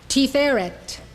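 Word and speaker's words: תפארת: This is how they are pronounced. These 9 Sphirot emanate from Keter. Chokhmah, wisdom. Binah, understanding. Chesed, love. Gevurah, power. Tiferet, beauty.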